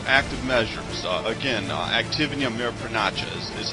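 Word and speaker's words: активные мероприятия: it's demoralization or active measures uh again uh activity of mayor pranacha's is how it's actually pronounced and they still use that word though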